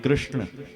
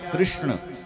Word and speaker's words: कृष्ण: का नाम क्या रखा कृष्ण आप बोलो कृष्ण बोलो कृष्ण कृष्ण बोला है कृष्ण ण यम गणना नाम नासिका च यमा गणन इनका उच्चारण नासिका से होना चाहिए कृष्ण बोलो ना